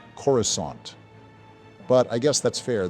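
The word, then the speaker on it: Coruscant: looks absolutely stunning like Naboo and corusant it's pronounced corusant but I guess that's fair the CGI for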